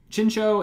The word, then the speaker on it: Chinchou: Wow, for a long time, I always pronounced this Chinchou, and learning a little bit of Japanese, this is probably Chincho. That little extra U sound in there.